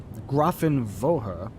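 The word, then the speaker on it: Grafenwöhr: over grothenwower grafenwolfer Grafton grafen vohra which would be technically how you pronounce that gruffin vohra I think that's an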